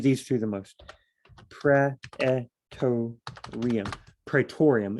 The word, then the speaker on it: Praetorium: Praetorium is the way I've heard it always pronounced.